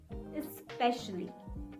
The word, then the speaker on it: especially: follows the same pattern don't call it especially no resist the urge to say the x sound say it especially especially especially especially especially